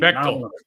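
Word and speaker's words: Beightol: And how do you pronounce his last name? Bechtel. Bechtel.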